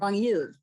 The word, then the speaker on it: Ragnhild: Is that how you pronounce it? Ragnhild? Ragnhild, which was not easy to learn how to say.